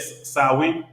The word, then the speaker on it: Samhain: The people that ran around naked fighting people and they celebrated, how you say it, Samhain?